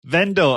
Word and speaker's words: Vendel: Have I pronounced your last name correctly? Yeah, Vendel. Vendel.